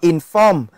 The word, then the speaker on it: inform: Thông thường với động từ hai âm tiết, thông thường nhá, động từ hai âm tiết trọng âm sẽ rơi vào âm tiết thứ hai, cho nên là mình